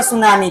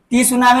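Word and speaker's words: tsunami: सुनामी कहा ठीक है इसलिए यहां पर टी यहां पर क्या है साइलेंट है टी क्या है साइलेंट हां साइलेंट है ना तो आप लोग इसको टी सुनामी नहीं पढ़ेंगे सुनामी पढ़ेंगे ठीक है अब आप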